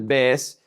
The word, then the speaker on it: vez: Remember that in Latin America, the Z is pronounced like an S.